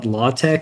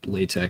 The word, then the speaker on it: LaTeX: Uh apparently it's Latte according to the Latte Foundation, but everyone just kind of says they say all different things. It's It's kind of a pronunciation disaster. There's no one really follows their advice. People just say how they learned it.